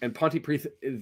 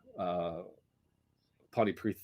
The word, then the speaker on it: Pontypridd: I think I've been, that's the one I've been going, and Pontypridd, that it's not a D, it's a TH sounding sound.